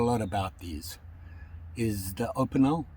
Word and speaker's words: Opinel: i've heard a lot about these is the opinel it's at the correct pronunciation the opinel knife and a lot of